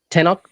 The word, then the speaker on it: Tenoch: He also wrote Tenok, God of Fire. Yeah. Well, I think he pronounced it Tenoch, which is legitimate as well. Tenok. I think that's how he said it.